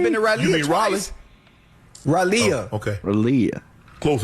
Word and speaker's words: Raleigh: I've been to Raleigh. He's talking about me. I've been to Raleigh. You mean Raleigh?